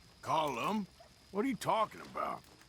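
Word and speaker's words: Colm: cold calm it's column in Ireland we say column well uh but he likes comb he's American is Irish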